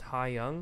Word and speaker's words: Haeyong: Can you, since I've never actually like talked to you, you say your name is pronounced Haeyong? Is that how you say it?